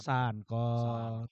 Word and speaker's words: Sunkop: Sunkop. Bacanya sunkop atau sank? Sankop. Matahari. Kalau sunkop nanti kecup.